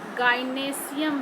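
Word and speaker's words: gynoecium: ये है कार्पेल, इसको हम लोग गाइनेशियम भी बोलते हैं, गाइनोएशियम ऐसे हम लोग स्पेलिंग लिखते हैं, गाइनेशियम बोलते हैं।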